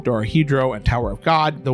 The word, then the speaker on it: Dorohedoro: saw Decadence, Ascendance of the Bookworm Part 2, Dorohedoro, and Tower of God.